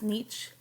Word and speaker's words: niche: their genetic tendencies um sometimes we call this niche or nic picking um depending on how you pronounce that and um uh it